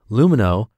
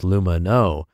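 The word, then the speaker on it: Lumineux: Lumino, spelled L-U-M-I-N-E-U-X, is the first oral care line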